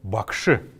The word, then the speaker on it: бакши: или настоятель буддийского храма обязательно нужно отметить что после буквы ш есть неясный гласный бакши мне мы бакшиш произносим а бакши так вот когда часто пишут или вот от слова им происходит слово м.ч.